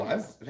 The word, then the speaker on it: NSAIDs: NSAIDs.